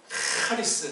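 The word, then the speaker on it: χάρις: 하리스, 이걸 쉽게 말하면 카리스라고 하려고 그래. 카리스. 카리스가 아니에요. 그렇다고 매갈이 없는 하리스도 아니고 하리스예요. 하리스.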